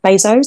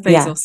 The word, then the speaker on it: Bezos: actually saw this from I always say his name wrong and the kids used to laugh at me Jeff Bezos did I say it right yeah Jeff Bezos yeah yeah base sauce yeah um he always